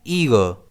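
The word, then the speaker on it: eager: इस वर्ड को हम प्रोनाउंस कैसे करते हैं? ईगर। इसमें स्ट्रेस आई पर रहता है।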